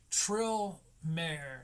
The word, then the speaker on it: Trill Maher: Trill Maher, spelled like Maher, like Bill Maher, Trill Maher.